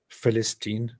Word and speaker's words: Philistines: But in Greek languages later on, that P came to be pronounced more, you know, in the F sound. So they started calling them Philistines. But later, when the Romans referred to that place by that name, they called it Palestina, Syria Palestina, and so on. That's how it evolves. The original word is pronounced with a P.